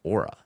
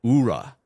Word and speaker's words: Aura: for the fact that he mispronounced Aura he called it Ura and I'm sitting there